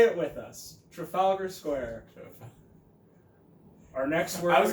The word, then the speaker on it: Trafalgar Square: what we're here for that's welcome either polybag pronounced words first profile ger square say it with us Trafalgar Square our next one I was gonna I was